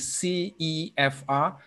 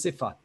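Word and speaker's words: CEFR: european framework of reference pronunciation is c e f r but if you say it quickly it becomes cipher right uh it's it's very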